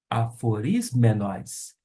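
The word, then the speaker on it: ἀφωρισμένος: Vamos agora fazer a pronúncia, palavra por palavra, do versículo de número 1. Paulus, doulos, Iesu, Christou, kletóis, apóstolos, aforismenos, eis, evangelion, teu.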